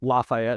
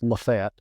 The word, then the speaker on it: LaFayette: It's Lafayette, Georgia, but if you're from there, it's pronounced Lafayette.